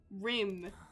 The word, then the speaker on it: Rim: Rim. Rim rhymes with him.